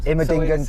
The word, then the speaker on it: Immendingen: Okay, so we've just gone through security and we're now heading out onto your Immendingen. How do you say it? Yes, that's quite good. Immendingen test track.